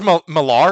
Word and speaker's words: Millar: It's Millar. Some of them are. Yeah. That's how it's pronounced. It's got an A in it.